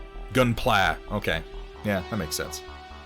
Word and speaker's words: Gunpla: around to turning into the red comet gunpla okay yeah that makes sense like i've read